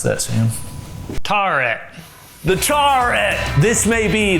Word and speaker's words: Tawret: How do you pronounce that, Sam? Tarret.